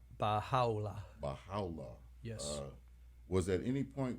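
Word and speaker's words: Bahá'u'lláh: Baha'u'llah, could you pronounce Baha'u'llah. Baha'u'llah.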